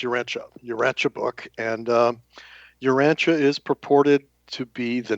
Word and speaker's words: Urantia: Um, we use the uh the pronunciation of Urancha. So, it's Uranchia Uranche book and um Urancha is purported to be the name of our planet.